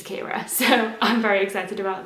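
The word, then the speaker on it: Ciara: Rooney wrote it and the way that it should be read is the Irish way, which is Kira.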